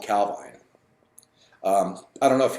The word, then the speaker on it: Calvine: People pronounce it different ways. Nick said it's Calvine.